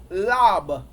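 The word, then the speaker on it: לב: I find it interesting also that the heart, that the Abari word for heart is lab. Lab. It's spelled Lamad Ayan Beyat. Lamad Ayan Beyat. L-A-B. Lab.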